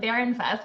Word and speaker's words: Bahrenfuss: I'm here with, and I would pronounce it Bahrenfuss because I speak German. But how do you pronounce your name? Brian, so I pronounce it Bahrenfuss, but I probably should take lessons from you because it is in fact German.